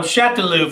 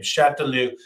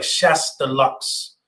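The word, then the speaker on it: Chastellux: is this name chateloo this is how the family today pronounces their name chateloo even though it looks like chess deluxe uh there's an s there's an x at the end but chatelu i promise you is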